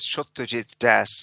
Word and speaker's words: Satyajit Das: I even before we started we you pronounced your name and I know I just mispronounced it. That's okay. Everybody does. My full name is Shujit Das, but the first name is a little hard for Anglo-Saxon tanks tongues to get around.